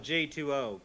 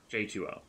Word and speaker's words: J2O: a new skill oh j20 gotcha j2o oh that's the uh the drink thing it is an o not a zero yes i've been saying it wrong oh it's like water like h2o juice to uh i